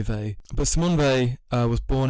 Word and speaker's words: Weil: Well, I think people pronounce Weil in lots of different Weil or Weil, whatever, but I say Weil.